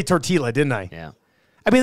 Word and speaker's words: tortilla: I believe I think it is a Spanish thing where you get the two lves together and it makes like I'm reading this in English I'm seeing soft flower tortilla tortilla actually I guess